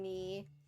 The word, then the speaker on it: knee: The K in knee is represented with the N stroke. That's because the represented sounds not right. Okay. The K is silent in both aspects.